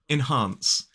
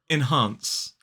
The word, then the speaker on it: enhance: question is this one enhance two syllables the stress is on the second syllable enhance so the first syllable is I in the second syllable is h a again that long a vowel sound n and S enhance enhance thank you very much